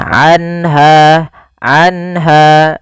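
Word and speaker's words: عنها: Yaitu cara membacanya adalah suara nunnya dijelaskan suara nun sukunnya. Anha anha dan tidak boleh ditahan anha.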